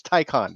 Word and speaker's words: Taycan: It's a tie conference. Taycan. There you go. That's how you remember. I thought of it that way, but that works. Or confidence men always wear a tie. So you're going to get conned by a man wearing a tie. Taycan.